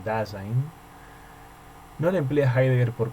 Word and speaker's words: Dasein: Esta palabra, que se escribe Dasein y se pronuncia en alemán Dasein, no la emplea Heidegger por casualidad.